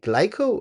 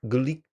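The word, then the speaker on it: Glico: Do you say glyco or glyco?" And he's like, "No, it's Guriko."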